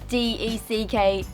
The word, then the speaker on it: deck: just really funny jack we call this a dick d-e-c-k don't laugh i'm saying it correctly deck a batch that is